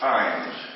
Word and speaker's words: Ijames: Ijames? How do we do it? And I started looking up a little bit about her, and it's actually pronounced Ijames. The J is silent.